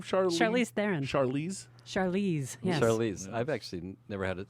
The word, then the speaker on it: Charlize: Charlize, yes.